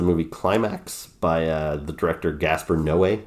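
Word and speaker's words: Gaspar Noé: climax by the director Gasper no way I think is how you pronounce his name and he always makes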